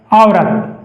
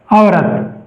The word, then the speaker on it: औरत: शब्द है हमारे पास औरत इसका हिंदी उच्चारण होगा आवरत। अवरत ये इसका हिंदी उच्चारण होंगे।